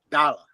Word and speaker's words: Dallas: They call him dollar. Even though the S's on there. Yep. And even though that A is there, he is actually called Dala. Dollar. They just And the S is silent, right?